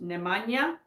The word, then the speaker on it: Nemanja: people on the on it's pronounced nemanja mania okay thank you thank